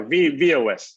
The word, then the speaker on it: V-OS: Well, as I understand it, is VOS, is that the right way to pronounce it? VOS? Yeah, VOS.